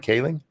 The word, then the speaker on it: Kaling: Mindy Kaling is that I say her name Kaling yeah okay um that fat ugly chick from